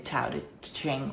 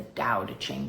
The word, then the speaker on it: Tao Te Ching: We are still working our way through the Tao Te Ching or the Tao Te Ching, depending on your pronunciation.